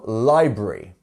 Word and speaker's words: library: And we have 2 syllables in library, and our first syllable is our stress syllable, library.